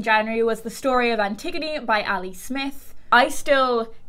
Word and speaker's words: Antigone: The next book that I read in January was The Story of Antigone by Ali Smith.